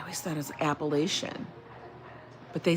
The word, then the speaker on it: Appalachian: Georgia Appalachia. Now, okay, how do we say I was always taught Appalachia, but I heard it's Appalachia?